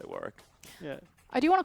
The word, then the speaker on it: Warwick: Warwick what yeah war no it's Warick because it's the name like it's like actually how you pronounce if you meet a dude on the street and his name is Warick that's how you spell it and pronoun it you say Warwick yeah I know I